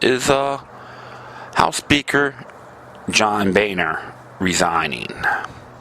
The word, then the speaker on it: Boehner: uh house Speaker John Boehner resigning actually pronounced boner but people they people